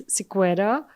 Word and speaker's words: Sequeira: And in India, it's Sequeira.